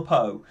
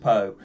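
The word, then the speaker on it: Paag: So please, if you don't already know that name, Emil Poe. It's spelled P-A-A-G. It's pronounced Poe.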